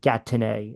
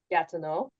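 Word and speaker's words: Gatineau: let the jab go e Au at the end of words in French it would be pronounced like o so it' be like got to know got to know got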